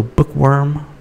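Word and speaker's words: BookWyrm: And the worm is spelled W-Y-R-M. So bookworm, B-O-O-K-W-Y-R-M dot social.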